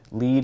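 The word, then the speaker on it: lede: not burying the lead lead here is spelled l-e-d-e which is rhymes with l-e-a-d there are obscure reasons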